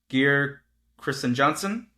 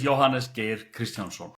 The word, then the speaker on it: Jóhannes Geir Kristjánsson: On our on our show, we have Johannes and I think his last name is Gear Christristen Johnson. Not even close. You butchered it. Um, my name is Johannes Gear Christian.